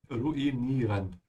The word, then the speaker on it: ruinieren: So add a small pause here, ruinieren.